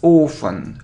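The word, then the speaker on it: often: say this word as ofen ofen so without to so we normally say it so ofen ofen look it isn't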